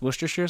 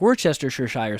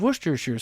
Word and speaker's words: Worcestershire: of I never know how to say it because if you read it it looks like we're Chester sure Shire sauce and and so I